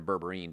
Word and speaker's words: berberine: I'm coming out with a berberin supplement or berberine depending how you want to pronounce it that helps stabilize blood